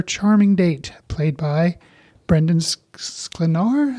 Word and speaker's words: Sklenar: date, played by Brendan Sklenar, I think is how you say his last name. Sklenar.